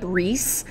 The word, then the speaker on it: Riis: Our first guy is Jacob Riis, and yes, that's how you say it with the two I's, Jacob Riis.